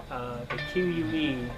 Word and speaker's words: qué: Like the Q-U-E, you pronounce it like K-E.